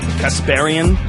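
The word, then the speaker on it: Kasparian: us thank you for having me super excited casparian the right way to pronounce it from The Young Turks um which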